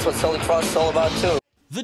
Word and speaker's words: Celtic Frost: Finally, I found out it is Celtic Frost. That's the right way to say yeah, it, that's right?